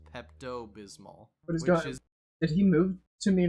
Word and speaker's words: Pepto Bismol: it's called oh yeah it's called pepal bismal but every time I for some reason I thought he was still talking about Pepto Bismol heard it it's pronounced Pepto Bismol which is just a lot easier to say white out again very